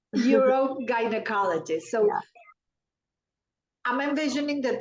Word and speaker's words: urogynecologist: And we're going to have a very interesting conversation on, she is an help me pronounce this. Urogynecologist. Urogynecologist.